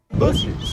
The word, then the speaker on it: Buc-ee's: This is a Bies, or if you'd like to pronounce it by its legal name, Busies.